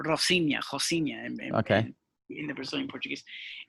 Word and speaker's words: Rocinha: Rocinha, yeah, Rocinha, because they don't pronounce the R, Rocinha, Okay.